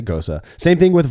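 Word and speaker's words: Gose: It's goza. It's goza. It's Gosa. Yeah, if you want to be correct, you want to sound right, then say Gosa.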